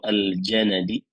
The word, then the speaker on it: al-Janadi: Bifathil jim wan nun al-imam al-alam. Wakila ismuhu Zakwan. Qalahu Ibnu al-Jauzi. Dengan meletakkan huruf harakat fathah pada jim dan juga harakat fathah pada nun, yaitu al-Janadi, Taus bin Kaisan al-Janadi.